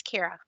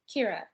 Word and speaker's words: Kyra: dean is her name pronounced kira or kyra it's kira kira okay and i see